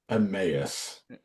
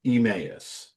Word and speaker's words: Emmaus: I heard somebody say Emmaus. Yeah, same here. The pronunciation here says it's supposed to be Emmaus, or E is like a short A, right? Or Emmaus, not like E, but Yeah, but I've